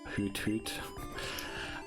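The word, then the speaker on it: Hoothoot: take out a ho hoot hoot why do I not know how to pronounce anything right now it's supposed to sound like an ARL isn't it so like hoot hoot say it hoot hoot no why do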